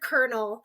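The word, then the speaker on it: colonel: word, even if it's the word kernel that is spelled so totally different than the way we pronounce it.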